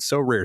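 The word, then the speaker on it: Sorare: win a variety of rewards which can include so rare scarcity cards game tickets merchandise signed jerseys and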